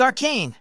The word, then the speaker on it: arcane: Our 7th and final word of the day is arcane.